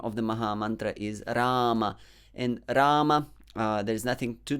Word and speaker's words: Rama: sound the ra consonant but if you keep your tongue a bit more flat and touch the alveolar a little bit more flat yeah so then you get that so don't flex your tongue on hare and on rama so you should be